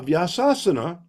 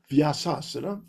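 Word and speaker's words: Vyasasana: to build praupat a vasasana mispronounced typically by devotees as vasasan. Okay but it's vyasana.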